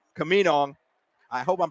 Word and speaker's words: Camino: He said, well, think of Camino. So Camino.